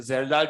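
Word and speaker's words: Kjeldahl: नाउ यहाँ पर है, पहला मेथड है जेरडाल मेथड।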